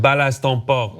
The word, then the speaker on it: balance ton porc: Actually, in France, it's called the balance ton porc. Is that how you say it? Balance ton porc. Balance ton porc, yeah.